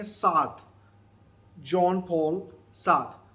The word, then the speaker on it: Sartre: ये इसकी प्रोनाउंसिएशन जो है आपको यहाँ पे आप सुनेंगे, मगर जो फ्रेंच प्रोनाउंसिएशन मैंने इसकी सुनी वो क्या थी, जॉन पॉल सार्थ, जॉन पॉल सार्थ. ये इसकी फ्रेंच प्रोनाउंसिएशन है.